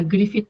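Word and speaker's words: Gruffudd: Se pronuncia o sea, se escribe Grufood, pero investigamos que se pronuncia Griffit porque es el gal de Griffit.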